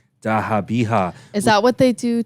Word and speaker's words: Zabiha: Both the young prince's throats were slit open in the method of zabiha, pronounced as dahabiha.